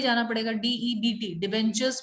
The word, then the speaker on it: debenture: Ma'am but अभी आपने डिफेंचर word बोला ना डिबेंचर, हाँ जी, मैम, मेरे को प्रोनाउंस करना दोबारा। डिबेंचर, DEBENTURE, डिबेंचर।